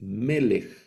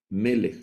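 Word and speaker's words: מלך: palabra rey que es melej también es una palabra milel el acento va en la penúltima sílaba melej melej no leemos melej sino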